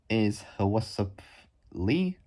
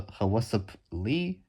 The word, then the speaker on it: Hwasup Lee: The designer is Hwasup Lee. So it's H and then what's up without an extra S into it. So it's spelled H. So HWA SUP and then Lee. So Hwasup Lee.